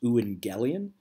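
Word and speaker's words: εὐαγγέλιον: you a transliteration of the Greek word it's pronounced Lu and galleon can mean gospel or it can mean good news ooh and galleon is a greek word that was often used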